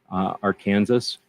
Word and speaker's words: Arkansas: Arkansas.